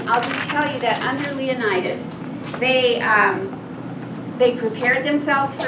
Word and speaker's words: Leonidas: in number three King Leonidas and you saw how to spell that it's like Leo like the lion now I looked up the Greek pronunciation and they said Leo need us but in the movie